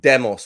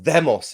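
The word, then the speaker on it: δῆμος: And that is this idea of demos, or themos, if I'm going to say it correctly in the ancient Greek pronunciation.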